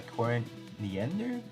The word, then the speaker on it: Corin Nander: but uh this unit is uh pilot by cory niender that's how you pronounce it uh we actually do have it